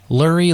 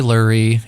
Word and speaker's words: Lurie: himself what's up man lurie lurie lurie it's pronounced like murray i've been saying that